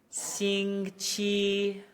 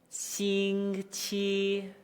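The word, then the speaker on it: 星期: 星期. 星期. Again, notice there, despite the g, t break, my tone and pitch is flat and maintained the entire time.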